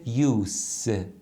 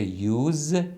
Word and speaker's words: use: ببینید متوجه میشید که خونده میشه یوس پس فعلش میشه یوز استفاده کردن اسمش میشه یوس یعنی استفاده این اولین نکته مربوط